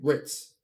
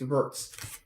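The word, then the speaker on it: Wirtz: Champions League products, like Verts, it's Verts, it's Florian Verts, not Florian Ritz. Like Ritz isn't a thing, it's Verts.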